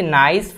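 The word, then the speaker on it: gneiss: The original rock from which नाइस formed is, नाइस एक rock का नाम है, यहाँ पे जी साइलेंट है, तो नाइस नाम का जो रॉक है उसका फॉर्मेशन किस रॉक से होता है?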